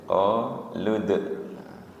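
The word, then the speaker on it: قَالُوا: Dibacanya pendek. Qalud.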